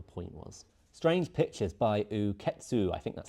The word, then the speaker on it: Uketsu: Strange Pictures by Uketsu, I think that's how it's pronounced.